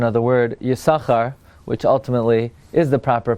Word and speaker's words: Yissachar: to last night's here we've discussed the proper pronunciation of the word yasakhar which ultimately is the proper pronunciation but we